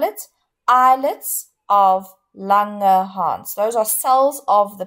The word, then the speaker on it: islets of Langerhans: to just say it again and then I'll spell it islets of langerhans those are cells of the pancreas okay it's